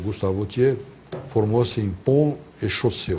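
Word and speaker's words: Vauthier: Vautier se escreve V-A-U-T-H-I-E-R.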